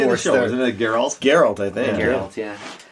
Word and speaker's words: Geralt: Geralt. Geralt. Yeah. Geralt. We don't even know. See, no, we don't know. What do they say in the show? Isn't it Geralt?